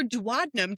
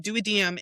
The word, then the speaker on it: duodenum: It's douad or dadnum depending on what part of the world you are from. Duadem is in the United Kingdom, Europe, that area. Here, United States dadnum daddom same thing different pronunciation.